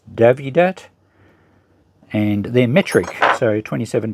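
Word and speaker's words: Dowidat: Yes, I think you pronounce the W as a V, so it's Davidat.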